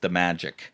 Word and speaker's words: Damajic: And his last name is Damajic. So, and that's pronounced the magic.